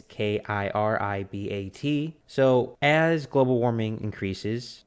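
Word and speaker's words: Kiribati: Now, that's similar happening to the island of Kirbat. am I pronouncing that wrong? It's Kiribat.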